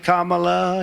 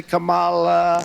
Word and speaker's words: Kamala: pronouncing her name Kamala Harris you can say Kamala you can say Kamala if I mispronounce it or not I couldn't kill us